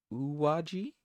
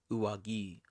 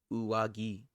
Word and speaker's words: 上着: Uwaji. 上着、 Uwagi. Hard G. Uwagi.